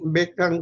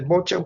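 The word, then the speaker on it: Beauchamp: Ya después, acá están, después ya la publicación que hace Bocan y Beckham, le dicen, algunos pronuncian Beckham, otros lo dicen el Bocan, como si fuera apellido francés.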